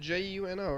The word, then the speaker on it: Juneau: Is it Juno, right? Juneau. Yeah, Juno. It's not coming up here. Oh. Maybe it's spelled.